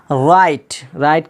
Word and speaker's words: write: एस के बाद डब्लू हो तो डब्लू हमेशा साइलेंट रहता है। तो एग्जाम्पल लेते हैं, राइट का माना होता है लिखना, WRITE।